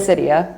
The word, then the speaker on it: Gliricidia: Now, Komako is known for farming with, I don't know how best to pronounce this. Gliricidia? Is that correct? Gliricidia.